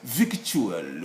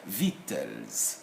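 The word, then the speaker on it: victuals: viewers to read it most of you would be most likely to pronounce virtual or something like that which is wrong because all the red letters here are supposed to be silent so this word will be called simply as vitals vitals and this is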